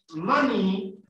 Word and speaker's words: money: La palabra money, se escribe así, pero se pronuncia money, como maní, pero con el acento al otro lado.